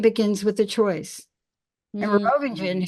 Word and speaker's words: Merovingian: And the movie I was referring to was Matrix Reloaded, because Merovingian, and you can say that 5 different ways, but it's French and don't pronounce the G.